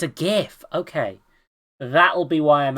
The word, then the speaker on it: GIF: gif actually also I'm going to keep pronouncing it gif because it's Graphics fuck you everyone yeah